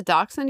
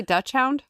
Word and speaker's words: dachshund: Miniature dut dachshund. D- AU or D A C H S H U N D. That's a dachshund. That's a dachshund. You don't say Dutch hound.